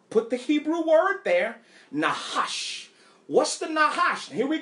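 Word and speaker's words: Nachash: And a Hebrew brother had to give me the correct pronunciation of the word. It's Nahash. Nahash. Yeah, I see y'all laughing at me. Nahash.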